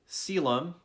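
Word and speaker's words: Caelum: Here's Cryo, Umbra, Mortis, Coelum. I believe this is a Latin word.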